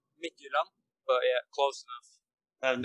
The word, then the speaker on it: Midtjylland: So in Danish, it will probably be Midtjylland, but yeah, close enough.